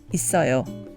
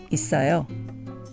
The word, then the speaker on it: 있어요: So we have it, 요, which is pronounced 있어요, 있어요, 있어요.